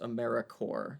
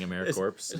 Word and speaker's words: AmeriCorps: is is probably your best way so that's a m e r i c o r p s uh pronounced americorps though that's the first hurdle when you become a member saying americorps not saying americorps uh there's some days it'll